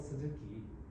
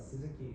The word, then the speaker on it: Suzuki: In Japanese, there is no separate U pronunciation, so we call Suzuki, right? Suzuki, but Suzuki is more the closer pronunciation to Japanese.